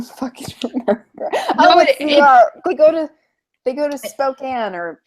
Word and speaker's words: Spokane: They go to Spokane or Spokane if you're Scribe. He needs to learn how to pronounce things really badly.